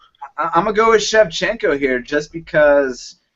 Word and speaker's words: Shevchenko: I'm not even going to, I'll try to pronounce Sarah Kaufman's opponent. Newcomer Valentina Shevchenko taking on Sarah Kaufman. Shevchenko.